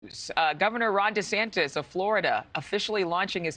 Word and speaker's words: DeSantis: But I just found out his name is pronounced DeSantis.